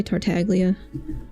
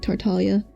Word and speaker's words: Tartaglia: Don't they also say tartaglia? Well, that's not how you say the G in Italian, like Tartalia.